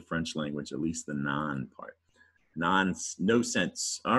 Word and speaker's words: non: And non, actually, we pronounce it non, but in French, N-O-N, that's how you say no in French, and it's pronounced non.